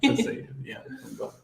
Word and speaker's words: Van Gogh: Van Gogh. This is the real pronunciation.